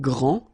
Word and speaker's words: grand: here for the masculine gran so you don't pronounce the final d will be exactly the